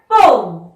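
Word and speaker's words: poem: आप अपनी अच्छी सी पोयम सुनाकर भी किसी को इम्प्रेस कर सकते हैं, तो उसे हम पोयम नहीं कहते, क्या कहते हैं? पोम। पोम। स्पेलिंग तो ये है, लेकिन कहते क्या है? पोम।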